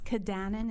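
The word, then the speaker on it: Cudanin: It's Kadanen. It's spelled C-U-D as in David, A-N-I-N.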